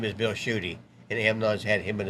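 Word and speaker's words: Tschudy: his name is bill shooty and amnon's had him and his wife on the show before but his name is spelled t-s-c-h-u-d-y now chew on this for a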